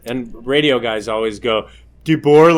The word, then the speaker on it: DeBoer: DeBoer. Most people get it wrong. It says DeBoer on the thing, and they'll go DeBoer, and I'm like, where do you see a U at all?